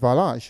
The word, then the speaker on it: Valanche: I tend to always pronounce the N's in the words, but actually it's Valanche, right?